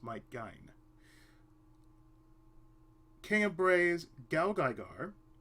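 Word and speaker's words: Might Gaine: Big Battle, Brave Express Maitagain, that is how it's pronounced, Mike Gain, King of Braves Gal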